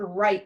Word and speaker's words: write: that gee mmm sign what about the word right like I'm going to write a paragraph that